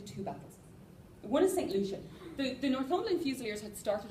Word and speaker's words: Lucia: Lucia. I can't, how do Americans say it? Lucia. Lucia, thank you. That's exactly the same as I say it. It's the same in British English.